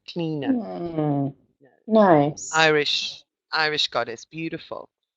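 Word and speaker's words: Clíodhna: you uh cleaner cleaner oh that's how you pronounce her name cleaner nice Irish Irish goddess beautiful so one of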